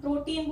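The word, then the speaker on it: protein: फिर T की sound आ गई ट, और EI आ गया, EI की साउंड और IE की साउंड, दोनों की साउंड बड़ी ई होती है। तो EI की साउंड बड़ी ई आ गई, प्रोटी, और यहाँ न। और इसलिए इस वर्ड को हम प्रोटीन बोलते हैं, इस वर्ड को हम रिसीट बोलते हैं।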